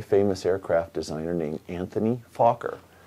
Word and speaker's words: Fokker: aircraft designer named Anthony Fokker it's f o k k ER so if you speak English get the giggling out of your way right now that's his name I am pronouncing it correctly and this plane was